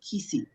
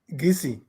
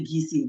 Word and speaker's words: Kissi: And if you think about it, we spell it um, Kissi, but nobody really says Kissi, right? Right. How do you actually pronounce the ethnic group, Dennis? Gisi. We say Gisi.